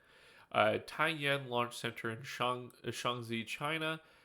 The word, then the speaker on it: Taiyuan: On October 17th, China launched Long March 6A into a polar orbit from Taiyuan, yeah, I think that's pronounced Taiyan. Taiyan Launch Center in Shaanxi, China, with 18 satellites on board.